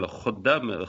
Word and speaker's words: Khaddam: Well, Khaddam, Kha, you don't have Kha in English, so we usually write it KH.